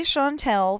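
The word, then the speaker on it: Chantel: Um usually Shantel because it's a French name. Um it it's actually a French name. Um, it's spelled with a C. So, C H A N T E L.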